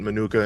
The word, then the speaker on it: Minooka: I will say, though, the village president, he pronounces it Minooka, and he's been here his whole life.